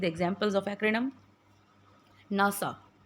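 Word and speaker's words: NASA: Let's see the examples of एक्रिनडम नासा। अब देखिए हमने इसको एनए एएस ए नहीं बोला। हम इसको प्रोनाउंस करते हैं नासा।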